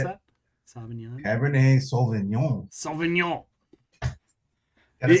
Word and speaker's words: Sauvignon: A Cabernet Sauvignon. Is that how I pronounce that? Sauvignon. Cabernet Sauvignon.